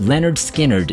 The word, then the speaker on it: Lynyrd Skynyrd: number 10 things go on Leonard Skynyrd from pronounced Leonard Skynyrd 1973 escalding Blues braised deep cut and an